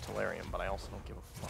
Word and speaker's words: tellurium: Technically, it's pronounced tellurium, but I also don't give a fuck.